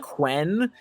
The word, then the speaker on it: Quinn: when bob says quinn i use the scottish eye pronunciation so it sounds like quen which is like man okay we're really keeping